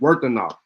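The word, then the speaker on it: Wuthenau: Yeah, you're right. It is pronounced Worthenau.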